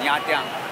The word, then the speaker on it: Nha Trang: So guys, it's time to say goodbye to Ho Chi Minh City and get excited for Nha Trang. It's the correct pronunciation by the way.